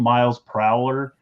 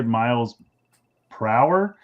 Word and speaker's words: Miles Prowler: they say they say miles prow and he's and he said so he said it wrong and they're like no it's miles prow because it's a pun on miles per hour and his face he